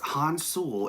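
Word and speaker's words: 혼술: what that means Melissa so it says no pronounced console as abbreviation referring to that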